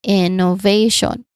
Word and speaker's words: innovation: Innovation. Innovation. Pay attention to the placement of the primary stress on the third syllable.